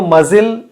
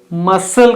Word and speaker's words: muscle: अगर आप इस वर्ड को मजिल का प्रोनाउंसिएशन देते हैं तो रॉन्ग है. मजिल वर्ड ए है, ये नहीं. हम इसको मसल कहना चाहिए.